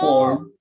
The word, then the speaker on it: warm: Pakai R nggak bisa? Pakai apa R? Jadi depends. Silakan mau pakai R atau enggak. Tapi dia dibaca adalah sebagai warm.